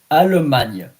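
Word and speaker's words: Allemagne: Almana. A L L E M A G N E. Alman.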